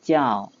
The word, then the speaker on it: 叫: 候要注意这个不是就这个要读成叫张把嘴张大叫是动词